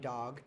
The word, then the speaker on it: Doug: U is silent, bro, so it's Dog.